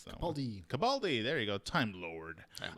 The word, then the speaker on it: Capaldi: How do you pronounce that Capaldi. Capaldi.